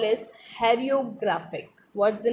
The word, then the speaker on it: hieroglyphic: The Egyptian script is called as hieroglyphic. What's the name of Egyptian script? What's the name of Egyptian script? Hieroglyphic.